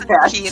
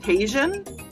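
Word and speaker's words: Tajín: And Nick also says that he needs more Vicks and tahine. Yeah, Vicks and tahine. So much. Very true. Because I have no clue what tahine is. I would have called it Tajin.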